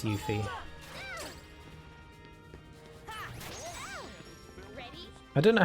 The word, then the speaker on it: Yuffie: she was called yuffie i thought her name was pronounced yuppie but it's not it's yuffie i don't know how